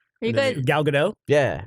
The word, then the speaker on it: Gal Gadot: Are you And then guys Gal Gadot? yeah. Gal Gadot? Gadot? Just- Gadot? Is that how you say it? Gadot. Gadot. It's like, well, she's Israeli, so Gadot. it's pronounced kind of like Israeli-ish.